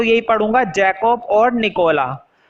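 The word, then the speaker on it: Jacopo: पढ़ते हैं इसको जैकोब, जो लास्ट वाला ओ है ना उसे नहीं पढ़ेंगे, कुछ लोग गलत प्रोनाउंसिएट करते हैं जैकोपो, तो जैकोपो नहीं पढ़ा जाएगा, सिर्फ जैकोब पढ़ा जाएगा। और जैकोपो पढ़ोगे भी तो भी कोई गलत बात नहीं है, पढ़ सकते हैं, बट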